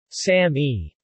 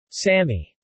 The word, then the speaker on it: SAMe: marketing name Sammy also spelled same or same pronounced Sammy or Sammy it was introduced in the u.s.